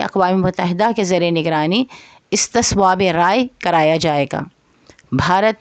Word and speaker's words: استصواب: مقصد کے لیے اقوام متحدہ کے زیر نگرانی استصواب رائے کرایا جائے گا۔ بھارت نے اس وقت تو یہ فیصلہ قبول کر لیا، لیکن کچھ عرصے کے بعد کشمیر میں استصواب رائے کروانے سے انکار کر دیا، اور یہ